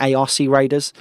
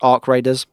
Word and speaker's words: ARC Raiders: lot of criticism for that, because I was pronouncing it ARC Raiders. I didn't know it's pronounced Ark Raiders.